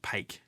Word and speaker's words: Paik: I'm not too sure, because in the Aussie accent, like her last name is, I would pronounce that like Paik. So yeah, it is. It is Paik. It's Paik, because I was looking up Korean pronunciation. It's Jisoo Paik, as far as I could tell, because it's another alternative of bake.